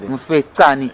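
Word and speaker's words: Mfecane: Mufetani, Difetani, what's the pronunciation? Mufetani.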